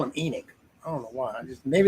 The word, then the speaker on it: Enoch: you're not you're not oh it is enoch my bad e nick huh god dang man i'm right about something i was going from the biblical sense i guess or maybe